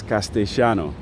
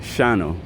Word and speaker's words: Castellano: It's just Spanish, or what they call it here is Castellano. That's how they say it, Shano, Castellano. But in regular Spanish, it's Castellano.